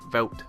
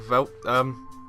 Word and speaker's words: Veldt: Veldt. I'm going to call it the Veldt. I'm not pronouncing a D because it's fucking stupid. Why is there a D there?